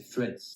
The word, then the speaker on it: Threads: Ju et au final la bonne prononciation c'est threads thread thre pr arrivé